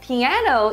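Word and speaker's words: 피아노: said next word piano piano in Korean is this word find out how to read it e and the circle doesn't have any sound so only ah ah so it piano so in Korean we said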